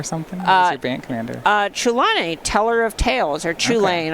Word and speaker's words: Chulane: I believe, if you're familiar with the card, I believe the CH is like a guttural, almost like Scottish sound. Okay. Like in Loch.